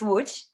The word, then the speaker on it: Łódź: If I'm pronouncing that Lodz, Poland. Yeah. So the proper pronunciation, which I know is crazy, is Łódź.